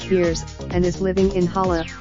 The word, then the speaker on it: Vers: She's known as Ver pronounced Veers, and is living in Hala, the capital of Kree, as part of an elite military team.